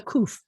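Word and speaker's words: ק: see the queue because it sounds more like a queue than it sounds like a cough sounds like a k but a koof sounds like a cube you can make them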